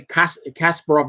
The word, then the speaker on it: Kasparov: They put the accent on the wrong syllable. You know, now I'm a hardcore fanatic. When I hear people say Kasparov is a Kasparov, I want to hear Kasparov.